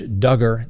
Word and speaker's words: Duggar: Next on the docket, the prosecutors tell the defense attorney for Josh Duggar, that's right, rhymes with hugger, this is a simple case.